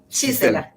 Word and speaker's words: Gisela: So, how do you pronounce? You say Gisela? Gisela.